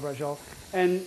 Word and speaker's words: braciole: absolutely yummy yeah um but brola you actually pronounce every letter but when I grew up in the Bronx hey let me get some brol you know that's that's